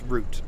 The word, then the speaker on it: route: and some of the routes are really really nice that's root not route root hopefully that red changes